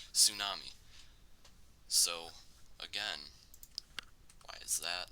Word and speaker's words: tsunami: Tsunami. So, again, why is that there? Basically, that's the only problem with it in our spelling. So, that actually comes from Japanese, the tsu sound, tsu, something like that.